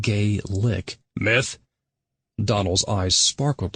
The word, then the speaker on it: Gaelic: Pronounced gay lick.